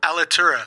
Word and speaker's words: Alitura: How do you pronounce it? Alitura? Alitura.